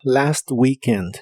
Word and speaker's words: weekend: Y usarás las palabras last weekend, que significan el fin de semana pasado. La doble E de weekend se pronuncia como una I larga o doble.